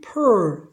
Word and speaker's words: pearl: 뒤에 자음이 있으면 어를 반모음으로 해라, 이런 의미고, 또는 R이 끝에 이렇게 어로 끝나는 경우가 있습니다. 어떤 단어가. 그러면 이 R은 자음이 아니라 반모음 발음인 어로 해줘야 됩니다. 그래서 이것도 발음이 pearl 이런 식으로 발음이 바뀝니다.